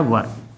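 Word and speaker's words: were: इसे कुछ लोग वेयर पढ़ते हैं, लेकिन इसका शुद्ध प्रोनाउंसिएशन होता है वर।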